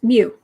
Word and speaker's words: mu: It's mu.